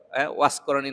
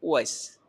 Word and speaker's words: উওয়াইস: আমাদের দেশের মানুষ বলে ওয়াস করণী না কি জানি বলে, কি অস্করণী বলে। আচ্ছা, এটা আরবি শব্দ। উওয়াইস নামের মূল উচ্চারণ হচ্ছে উওয়াইস।